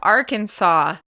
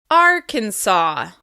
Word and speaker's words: Arkansas: For this state, we stress the first syllable. Arkansas. Arkansas. It can be challenging to stress the first syllable if you want to rush through the word. Be sure to hold that first syllable and make it longer, louder, and higher in pitch.